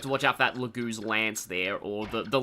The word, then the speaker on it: Laguz: You have to watch out for that lagoo's lance there or the the leager's lance as I used to pronounce it.